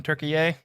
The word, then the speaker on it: Türkiye: See if you know anybody from Türkiye. Give me some credit for pronouncing it correctly.